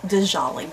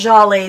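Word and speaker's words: Djali: You know, we used to pronounce it Dijolly, but... Is it Jolly? I think it's Jolly, the way she was pronouncing. I think the D is silent.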